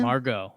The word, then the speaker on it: Margot: The Rays traded Emilio Pagan to the Padres for center fielder Margot Murgot. Is that how you say his name? Margot. Manny Margot. Manny Margot, and someone else from the Padres, right?